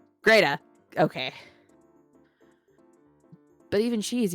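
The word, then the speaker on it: Grete: Greta rhymes with beta. Greta.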